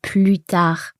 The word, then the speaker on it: plus tard: It's because here we've got the expression plus tard, and in there we never pronounce the S.